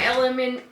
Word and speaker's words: LMNT: gotta get my electrolyte powder out here my element lmnt element is how you say it electrolyte